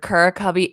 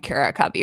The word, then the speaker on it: Curacubby: and to be honest there's not like a a designated way to pronounce it i've heard kur cubby and cara cubby from people so okay i'm going to stick with kura cubby because it just came naturally to me the company was founded in 2016.